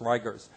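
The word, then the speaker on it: rigors: Uh spelled like rigers, it's Ryers.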